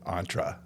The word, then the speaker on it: Entre: you still do it entra or you you pronounce it entra because it's short for entrepreneur I get it I